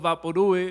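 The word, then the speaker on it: Vaporú: you don't know what vaporu is I'll tell you after the poem no vaporu Vaporu is pronounced Vaporu ooh like loud or chew the label for Vaporu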